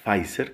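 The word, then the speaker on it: Pfizer: las de una empresa llamada fai ser que se escribe con pf al principio y otra empresa llamada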